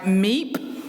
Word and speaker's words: MEEP: I also brought my MEEP. That's spelled M-E-E-P, MEEP.